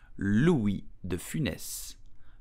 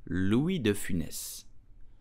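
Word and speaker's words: Louis de Funès: pronounce his name correctly in French you will pronounce it Louis the Finesse Louis de finesse the Finesse Louis defines did you know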